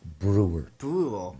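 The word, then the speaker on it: Breuer: yeah it's a gym how do you pronounce the last name Brewer yeah it's spelled out it's b-r-e-u-e-r yeah not typical no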